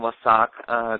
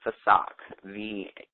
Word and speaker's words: Vesak: Yes, the full moon WESAC transmission is actually I was saying it wrong. Well, it's actually called VESAK, VESAK.